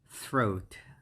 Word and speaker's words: throat: okay and number 59 right there is our throat throat so it's like that the first word this one is the trickiest pronunciation in english which is and then you